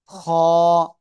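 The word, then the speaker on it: خاء: খ কে মোটা আওয়াজে উচ্চারণ করতে হবে। গলার শেষ ভাগ, গলার শেষ ভাগ থেকে এই অক্ষরটা উচ্চারণ হবে।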